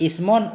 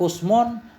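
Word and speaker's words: اسم: Karena cara baca isim ada 6. Ismon, usmon, sumon, simon, suma dan sima.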